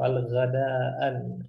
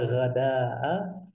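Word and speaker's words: الغداء: Maka ketika ada alif lam, jangan kita bilang al-faturan atau al-ghadaan. Ini khata ya, kurang tepat. Maka cara bacanya yang tepat itu pada kalau ada alif lam, al-fatura wal ghada'a wal 'asya'a. Seperti itu.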